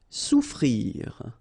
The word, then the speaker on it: souffrir: Souffrir. Okay, so double F is not pronounced.